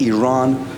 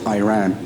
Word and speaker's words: Iran: our country's name wrong our country is named Iran not Iran please once and for